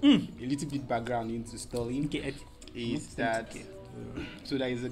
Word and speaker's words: Stuhrling: Pronounce that. Sorry. S-T-U-R... I won't embarrass myself. Stuhrling.